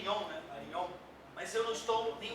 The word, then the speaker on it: Varignon: Varignon. Mas eu não estou nem um pouco preocupado com a pronúncia.